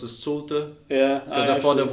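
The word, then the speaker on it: Šulte: In Latvian you add a bit like umlaut. Sulte. So it's actually very German. That sounds very German. Schulte is very German.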